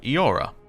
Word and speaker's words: Eora: EO sounds like Eo. This sounds is still used in the modern word Eora.